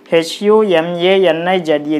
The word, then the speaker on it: humanize: H-U-M-A-N-I-Z-E. This is similar to this word. H-U-M-A. Ma. nij. So you put the stress on the third syllable from the end, then it will be humanize.